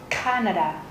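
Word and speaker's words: Kanada: vào chữ a Australian Canada Canada trọng âm rơi vào chữ a đầu tiên các bạn nhấn mạnh hơn một chút Canada một đất nước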